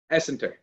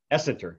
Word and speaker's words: Essenter: So what is the correct pronunciation? Essenter. Essenter.